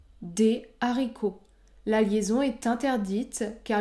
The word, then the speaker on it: des haricots: est-ce que 9e cas la liaison est interdite devant un mot qui débute par un h aspiré par exemple des haricots des haricots la liaison est interdite